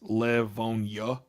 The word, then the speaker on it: Livonia: We don't say the IA. It's Livonia. YUH. That's how we say it. That's how it goes.